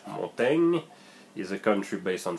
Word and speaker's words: Montaigne: Then you have Montaigne, and I pronounce it in French. Montaigne is a country based